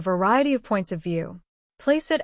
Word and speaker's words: placeat: Placeat experiri, he quoted, giving the Italian pronunciation to the C.